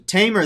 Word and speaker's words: Tamer: with the pronunciation but it can be pronounced like a lion tamer so tamer there we go tamer smith awesome sherman johnson